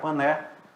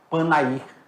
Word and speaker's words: Panair: O antigo aeroporto, onde tinha uma empresa chamada Panert, ela pousava, aí o pessoal não sabia pronunciar Pané, começou a chamar Panair.